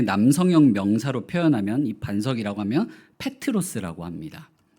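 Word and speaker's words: Πέτρος: 명사로 표현하면이 반석이라고 하면 페트로스 합니다 바로이 페트로스 베드로의 헬라식 발음이에요 베드로라는 이름 자체가 겁니다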